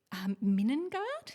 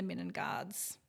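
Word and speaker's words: Middengard: So the Minengard, is it Minengard? Am I pronouncing that right? Minengard, yeah.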